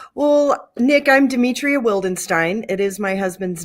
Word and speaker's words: Wildenstein: Today, I have the great pleasure of introducing your good neighbor, Demetria Wildstein.